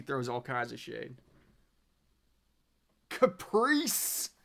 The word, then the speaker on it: Capri: One Fast Daddy, it is pronounced Capri. It's not Caprice.